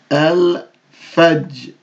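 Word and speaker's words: الفجر: No shadda, so we're going to pronounce it out. Al-fajr, al-fajr, al-fajr, al-fajri, al-fajri, al-fajri, al-fajri, al-fajri.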